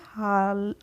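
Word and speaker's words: hall: A double L तो एच A dull L को हम क्या पढ़ेंगे हाल क्या पढ़ेंगे हॉल पढ़ेंगे इसको हम हाल नहीं पढ़ेंगे ऐसे ही हम पढ़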